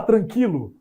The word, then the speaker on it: tranquilo: outro caneco tchau tranquilo tranquilo é descrito com trema tranquilo nos dois pontinhos aqui no tema não tem mais o trema Mas eu continuo pronunciando com o seu existe isso né eu vou falar tranquilo ai tá tranquilo tá tranquilo continua com esse mesmo som mas a coisa